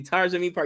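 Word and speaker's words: Taare Zameen Par: Idiots, just like I did with, help me pronounce it, Tar Zamin Par. Thank you, Tar Zamin Par.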